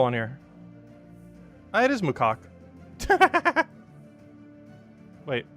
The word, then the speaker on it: macaque: The Makai Koi. No, that's a monkey. Wait, is that how you spell it?